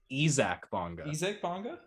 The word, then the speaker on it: Isaac Bonga: that's my take now on basketball reference they have his phonetic pronunciation as ezac bongo okay okay and his